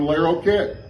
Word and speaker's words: Larroquette: say brick yet there's also an actress john larroquette y'all know him not court dating myself again t t l-a-r-r-o-q-u-e-t-t-e people being pronounced john o'learo cat brickhead but for some